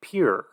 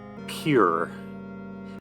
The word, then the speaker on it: Pierre: Dakota the coyote state in South Dakota Pierre is pronounced pure well who am I to judge okay pure yeah you know the